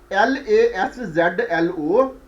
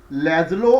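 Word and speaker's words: László: difficult to be pronounced l a s z l o lazulo or Laszlo and second name second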